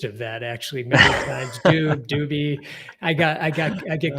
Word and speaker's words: Dube: Yes, it's Rob Dube is the way the last name is pronounced.